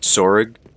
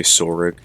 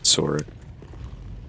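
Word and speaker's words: Tsorig: I pronounce it Sorig. I know some people just say Sorig. I say Sorig. Because, you know, there's a T in there.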